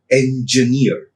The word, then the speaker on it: engineer: Again, here the syllable that is stressed is j, engineer, engineer, engineer. A word that is suffixed by er is stressed on that j, engineer.